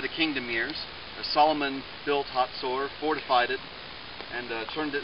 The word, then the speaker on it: Hazor: We're at the Israelite city of Hazor, or as it's pronounced in some English Bibles, Hazor.